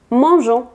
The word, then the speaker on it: mangeons: Nous mangeons. Aquí se le pone la E entre la G y la O para que tengamos ese sonido J, porque si no sonaría go.